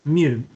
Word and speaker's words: mu: Mu.